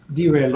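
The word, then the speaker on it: derailleur: okay the biker okay so how do you pronounce that Chris it's French derail oh derailer gear yeah meaning the raer gears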